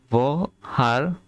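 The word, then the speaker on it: woher: কিন্তু আরেকটা রুলস আছে, এইচ এর আগে এবং পরেও যদি ভাওয়েল থাকে তাহলে এইচ এর উচ্চারণটা হবে।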